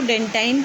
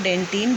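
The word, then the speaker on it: dentine: कुछ लोग इसको डेंटाइन भी कहते हैं। इट इज़ डेंटाइन और डेंटिन, both are correct pronunciation.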